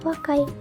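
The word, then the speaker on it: 若い: Pada kanji ini cara bacanya secara kunyomi adalah wakai.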